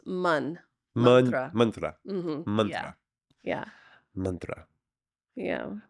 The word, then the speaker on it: mantra: so you pronounced it Mantra right oh Mantra yeah but the a is short so it's manra Mantra Mantra yeah mantra